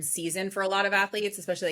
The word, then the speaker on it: Athleats: My company is Athletes Nutrition. It's spelled ATHLEATS, like eat.